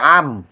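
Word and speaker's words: عن: ক্রিয়াপদ আন ভিত্তিতে বাইয়েনাতিন এখানে আন কিন্তু উচ্চারণ হবে আম এটা গুন্নার নিয়ম রয়েছে এখানে বাইনাতিন স্পষ্ট প্রমাণের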